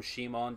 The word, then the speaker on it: Simon: yes by the way I will be calling him Shimon despite the fact that his name is written Simon in English in Japanese his name is written Shi Mong and you cannot change the pronunciation I don't know what